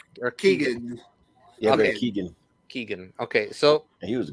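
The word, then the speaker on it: Barry Keoghan: con Carrie Condon and uh how do you pronounce his name Barry kilgan or Keegan okay Keegan Keegan okay so he was great he was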